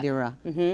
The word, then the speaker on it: Meteora: But I think it's like when I heard first time like a Meteora. Meteora, Yes. is that right pronunciation? Yeah, Meteora. Yeah. Meteora, like shocked.